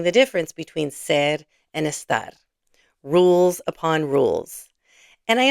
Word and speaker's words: esta: So note that está has an accent mark. Say this with me. Está. ¿Dónde está? ¿Cómo está? Without the accent mark, the word is this. You've been saying this in many lessons already. Let's read these together and hear the difference. Esta mañana. Esta tarde. Esta noche. The accent marks are there to help you with pronunciation.